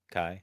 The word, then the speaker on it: chi: to pronounce it Kai I've seen it written Kai Kai Kai like a k Kai Greek letter yes